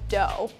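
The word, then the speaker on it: doux: So brut is the dry and doe or D-O-U-X is the sweet.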